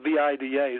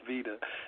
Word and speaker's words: Vida: relations here at vida it's spelled v-i-d-a so i keep wanting to pronounce it vida but it's pronounced veda anyway we specialize in